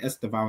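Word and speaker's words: Estêvão: Now say it properly, bro. Don't say Esteeb like that.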